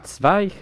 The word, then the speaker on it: Zweig: Sig.